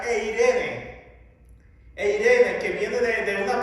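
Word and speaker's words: εἰρήνη: Esta palabra que se traduce aquí en nuestras Biblias como paz, es la palabra que en griego se pronuncia eirene.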